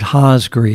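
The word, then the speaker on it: Hosgri: into the san andreas and it was named haasgri h-o-s-g-r-i and that's the first syllables of the two scientists that discovered it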